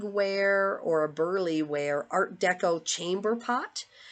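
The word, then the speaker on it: Burleigh: have a sale on so far is a Burly wear and I'll spell it for you it's b-u-r-l-e-i-g-h so I think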